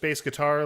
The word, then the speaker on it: BASEGITAR: Uh, yeah, just bass guitar. Like it's spelled there. Bass like baseball guitar.